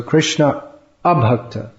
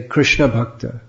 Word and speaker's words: Krishna Abhakta: You have to say it properly. Otherwise, if you say Krishna Bhakta, then it means Chaitanya Mahaprabhu said the symptom of Vaishnava is that he rejects the association of devotees.